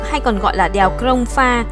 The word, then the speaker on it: Krông Pha: Đèo Ngoạn Mục hay còn gọi là đèo Krông Pha, một địa danh của người Chăm hiện vẫn còn, người Việt đọc là Sông Pha, còn người Pháp thì